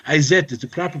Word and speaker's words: Isis: Isis, Hathor, whatever you want to say, Osiris, Wizard, which is the proper pronunciation. Izet is the proper pronunciation.